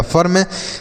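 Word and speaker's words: firm: एफ से फ पढ़ेंगे, आई के बाद आर है तो आ का उच्चारण होगा, आर से र, एम से म, आर से र ऊपर हो गया, ये लिखा गया फर्म।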